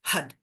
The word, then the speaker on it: Har: going to be chanting Hud. So, this is another diaphragm diaphragm movement. Um, it's actually har, but we pronounce it Hud.